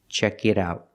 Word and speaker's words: check it out: The T is between vowels, it's a fast D. Check it out.